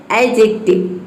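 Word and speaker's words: adjective: इसका दूसरा रूल है, यदि डी के बाद जे आ जाए तो डी साइलेंट रहता है, या फिर डी और जे एक साथ आ जाए तो उसमें डी साइलेंट रहता है।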